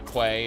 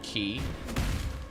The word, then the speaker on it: quay: I I call it the quay. It's it's pronounced key, but I've never let how something's actually pronounced stop me.